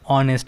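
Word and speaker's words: honest: অ্যান অনেস্ট ম্যান, এই যে এইচ ও এন ই এস্ট,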